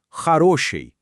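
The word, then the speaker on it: хороший: Para bom, dizemos harosi.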